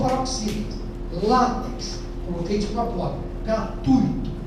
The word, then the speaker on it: gratuito: Coloquei de propó gratuito. Já ouvi muita gente falar gratuito. Para nós pessoas de português dói o ouvido. Não existe gratuito. É gratuito. Só gratuito está errado.